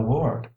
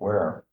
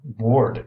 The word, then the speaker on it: Ward: "Mademoiselle Ware" he pronounced it Ware "is magnificent.